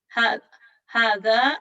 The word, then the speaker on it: هذا: Hada is pronounced hada, but it is written without the first alif.